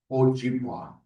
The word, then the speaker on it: Ojibwe: I'm Ojibwe, or sometimes they call us Chippewa, but in our language it's Ojibwa is how you say it.